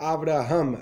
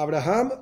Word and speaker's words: Avraham: y en el medio aquella persona que se llama abraham abraham está transgrediendo un mandato divino en la misma prohibición de llamar a avraham abraham siento cuando no está